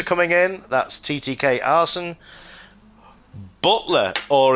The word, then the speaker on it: Butler: Butler, or as his name got mispronounced in one of the other series. He's from CC Sim Racing with Craig Cook, who's the commentator over there, and he mispronounced his name as Butters, or Butter instead of Butler, and it stuck.